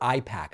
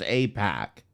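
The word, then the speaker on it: AIPAC: you know damn good and well it's pronounced AP pack Jesus Christ that is funding this show or other creators.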